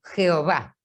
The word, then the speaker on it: Jehová: y a las vocales, le agregaron la E y la O y la A y lo pronuncian como Jehová, porque la primera Y ellos la transforman en J, ¿sí?